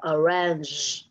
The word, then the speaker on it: arrange: Và ở đây, anh chị nhớ là cái chữ G này, đừng đọc là G rời G, mà hãy đọc là âm G.